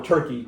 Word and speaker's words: Türkiye: That is Turkey, or Türkiye as they would now like to be called. It's pronounced the same, but they did change the spelling.